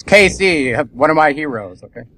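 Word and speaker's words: Cayce: know how many times for pronouncing Edward case with one e at the end not saying Casey like somebody can't understand it's the same person but okay there you go it's Casey one of my heroes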